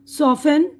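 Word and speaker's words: soften: अब इसके बाद ये टी की आवाज़ साइलेंट है। यहाँ पर देखिए हैसेंट जल्दी करना, लेसेंट सुनना, ऑफेन अक्सर, सॉफेन नर्म, ठीक है ना।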